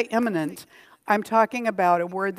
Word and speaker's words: immanent: both immanent and transcendent and when I say imminent I'm talking about a word that is spelled I am M a in ent it's